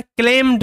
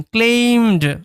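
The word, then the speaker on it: claimed: Each of them, each মানে হচ্ছে প্রত্যেকেই, অফ মানে অফ দেম মানে হচ্ছে তাদের মধ্যে, তাদের মধ্যে প্রত্যেকেই ক্লেমড মানে দাবি করেছিল। এটার উচ্চারণটা ক্লেমড নয়, ক্লেইম, ক্লেইমড।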